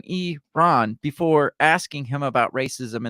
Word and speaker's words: Iran: corrected Adam's pronunciation of Iran um Adams had said I ran rather than e Ron before asking him about